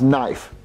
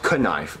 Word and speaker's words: knife: pronounce it nice jeffy the k is silent you you only know